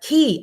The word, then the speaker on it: Key: And she says it's pronounced key like a key.